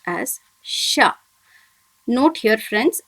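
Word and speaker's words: しゃ: should be pronounced as sha. Note here friends, it should not be pronounced as shya, it must be pronounced as sha.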